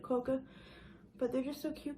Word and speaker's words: quokka: one animal from Australia a quokka that's how you say it coca but they're just so